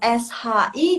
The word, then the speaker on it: 是: 是 Yang SHI dia kayak gini, biar suaranya bulat. Shi, nada keempat. Shi, coba. 是对，是 agak bulat kan?